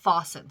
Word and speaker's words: Fossen: I heard the narrator say Fossen. So, and I'd been saying it right all these years, but I thought I was wrong.